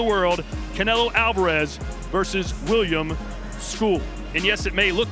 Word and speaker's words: Scull: Canelo Alvarez versus William School. And yes, it may look like it's spelled or it's spelled skull, but it's pronounced school.